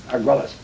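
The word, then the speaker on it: Argüelles: Arguelles.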